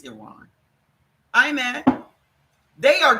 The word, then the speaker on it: Iran: How do you pronounce it? Is it Iran or Iran? It's Iran.